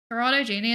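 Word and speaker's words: Gini: Genie is a Italian stati statistician. So, you pronounced it right with a soft G.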